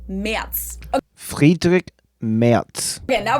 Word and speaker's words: Merz: Again, the Z is pronounced like a TS, so it's not Merz or Merz, but Merz.